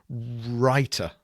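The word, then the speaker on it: Rytr: Uh, R YT writer writer, that's exactly how it's it's pronounced.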